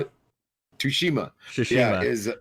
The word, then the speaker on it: Tsushima: So, like, I know that Ghosts of Tsushima, however you say it, you can say Tsushima? it. Tsushima, yeah, Tsushima. is The T is silent.